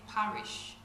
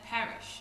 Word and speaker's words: perish: I didn't say parish. I said perish.